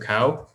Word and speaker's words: Cao: this is senator jacob cow last name is spelled cao and pronounced like the animal and i'm honored to